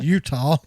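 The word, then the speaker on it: Etowah: particular Utah Alabama it's spelled etawah but it's pronounced Utah in Utah Alabama he wanted his free weey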